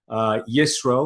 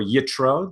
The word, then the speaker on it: Yitro: We're learning the 10 Commandments today because we are in the Torah portion, Yisro or Yitro, depending on how you pronounce it, or in English, Jethro, right?